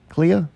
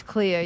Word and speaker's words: Clea: all right statement retracted how do you say this when name Clea C EA Clea Miss Cleo it's Clea yeah Jonah I think